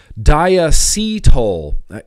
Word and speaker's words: diacetyl: Diacetyl. Apparently, Phil, that's the correct way to say it. I say diacetyl because I think it sounds cool.